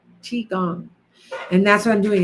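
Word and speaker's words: qigong: IT addresses it okay so how do you spell that CH is Qi g o n g CH gong and that's what I'm doing is Yoga infused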